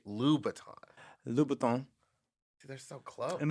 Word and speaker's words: Louboutin: Louboutin.